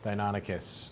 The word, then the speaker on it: Deinonychus: flower that's uh that's Deinonychus Deinonychus that's it Deinonychus terrible claw I'm gonna write out phonetically how that's gonna do people are now